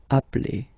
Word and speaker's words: appelle: So when you get this e vowel and then you get a double consonant, and well, they are the same, then it does change the pronunciation of e. You tend to pronounce it like really open. That's the reason why you pronounce it appel, okay?